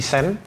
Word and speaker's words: Seine: Bacanya Sen guys katanya. Saya nyebutnya Seine kemarin disalahin katanya. Sen.